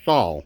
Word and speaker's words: Sol: and the name is saul or soul as they pronounce it simpson oil limited now